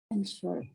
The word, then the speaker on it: answer: Number 15, answer berubah jadi Answer. answer itu bacanya W-nya jangan dibaca. Answer, the answer. Answer the question. Nah, jadi bukan answer, W-nya nggak usah dibaca.